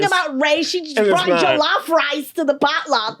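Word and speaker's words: jollof: Jalaf. Julaf. The jalaf. Jalaf rice. And then And then you got to be like, "No, it's jalaf." Like it's jalof, Kelly.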